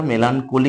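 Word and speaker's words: melancholy: মেলানকোলি মানে হচ্ছে, মেলানকোলি উচ্চারণটা মেলানকোলি করতে হবে।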